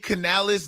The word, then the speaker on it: Canales: Dave Canales, that's how you pronounce his name.